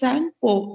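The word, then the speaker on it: Tsangpo: that is sang okay t is silent we don't say he says okay that is the name of brahmaputra river only so we move on the brahmaputra is known as sangpo in tibet as the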